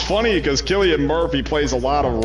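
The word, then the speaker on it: Cillian: up I think it's pronounced Killian it is pronounced Killian yeah I used to think it was San myself but then I heard but then somebody I went to high school with said Killian and I found out yeah that's the correct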